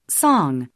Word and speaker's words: song: 이렇게 발음하지 않죠 대신 송 송 이렇게 발음해 주고 있습니다 입술 오픈 라운딩과 혀끝을 뒤로 당겨 겨 뒷부분이 위로 올라가는 그런 움직임을 토리로 느껴 보시기 바랍니다 다시 들어보시죠 S song 자 다음 단어 들어